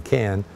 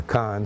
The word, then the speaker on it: Cannes: We actually stayed in Cannes, or Cannes, however you want to pronounce that.